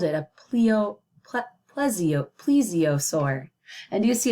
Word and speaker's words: plesiosaur: plesiosaur and you see it took me a couple times to pronounce it but that's okay when we have new word sometimes it takes a little while here it breaks it down how I say it so this says please Z uh soar please z